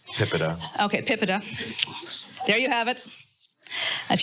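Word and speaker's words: PIPEDA: a vote from you on how it's actually pronounced tip it up okay PIPA de there you have it if you take nothing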